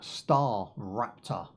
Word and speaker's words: StarRupture: Today we are checking out StarRupture. It's pronounced Rapture as in the Rapture, okay, not Raptor as in the Raptor.